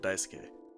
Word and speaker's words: Daisuke: I pronounce it Daisuke.